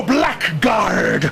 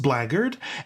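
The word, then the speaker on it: blackguard: sure that the um homy really works thou Black Guard was it not God who said to Moses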